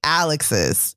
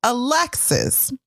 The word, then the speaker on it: Alexis: embarrassed this is perfect because if the emphasis was on the first syllable your name would be alex's but your name is alexis okay it is alexis